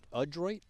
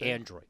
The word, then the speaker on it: Adroit: it wrong feel terrible it's Adroid not Android Adroid Adroid okay I don't want to say incorrect thank you so much for correcting